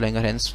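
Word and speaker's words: Langerhans: Have the cells called islets of लैंगरहंस जिसमें S silent है, चार सेल्स हैं, alpha beta gamma delta, beta 65, alpha 15, gamma delta और एक है एफ सेल।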